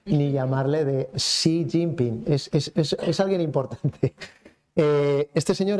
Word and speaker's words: Xi Jinping: Xi Jinping, muy importante, hay que aprender a pronunciarlo.